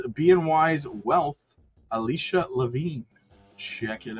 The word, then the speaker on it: BNY: Levine, Head of Investment Strategy and Equities at Boney. No, wait a minute. It's BNY, but it's BMO. BMO, you pronounce BMO, right? But we're BNY. But you're not Boney. Okay. We are BNY.